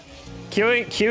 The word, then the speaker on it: queue: Queue is such a crazy word. It's literally a letter and then four silent letters after that.